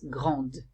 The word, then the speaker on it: grande: And for the pronunciation, I hear the D, I pronounce the D, the D, N, T, and for the S, Z, or S.